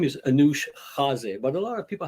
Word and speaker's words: Anoush Khaze: the first one i guess my name is anush jazee but a lot of people have a little